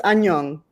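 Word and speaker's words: 안녕: It's annyeong. Annyeong. Mhm. Yep, I wouldn't have got Onion? Is it Onion. Is it onion? It's actually the formal word is annyeong haseo, but that's like the formal hello, but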